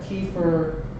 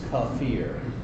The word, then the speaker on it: kefir: So you got a bunch of different pronunciations. You got kefir, kefir, kefir. The real correct, ancient Turkish pronunciation is kafir. I end up finding myself saying this more, kefir. A lot of people say kefir, doesn't really matter.